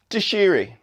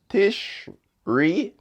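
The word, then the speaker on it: Tishrei: the seventh month in the ebro calendar is tishiri i am not sure i'm pronouncing this correctly but it's t-i-s-h-r-e-i tish tish ri tishri um i stand corrected this month's fall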